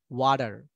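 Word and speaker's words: water: Native স্পিকারদের মতো হলে ওয়াটার, আর British হলে ওয়াটা, ওয়াটা। কারণ কি? কারণ ব্রিটিশরা কোনো একটা শব্দের শেষে যদি আর থাকে তাহলে সেই আরটা উচ্চারণ করে না, ঠিক আছে?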